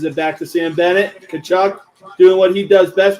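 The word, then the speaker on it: Tkachuk: Matthew Kachchuck. Not exactly how it's spelled the way you think it is.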